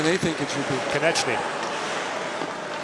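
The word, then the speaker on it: Konečný: next to us, are taking issue with Konechny's pronunciation. What do they think it should be? Konechny.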